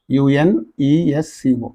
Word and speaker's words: UNESCO: This abbreviation, it can be pronounced as a word. NEET, WHO, and UNESCO is there. UNESCO. UNESCO. It's just like, UNESCO. Such abbreviations that can be pronounced as words are called acronyms.